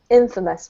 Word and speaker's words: infamous: i'm highlighting famous yeah so not infamous but infamous the emphasis is on the first syllable so it doesn't actually sound yeah that's right infamous well done um okay